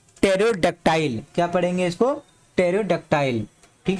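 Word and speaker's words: pterodactyl: आप कब पढ़ोगे इसको, पेटरोडैक्टाइल, तो ये पी वर्ड यहाँ पे साइलेंट होगा क्योंकि पीटी है, टी भी है, पीटी है, तो इसको क्या पढ़ेंगे, टेरोडक्टाइल।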